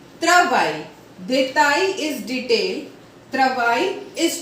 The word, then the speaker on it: travail: For example, détail, détail, travail, travail.